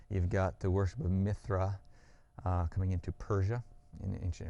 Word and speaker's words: Mithra: old is myth RISM the worship of Mithras or Mithra which is actually the more appropriate pronunciation of the name as far as the Persian God goes dates definitely couple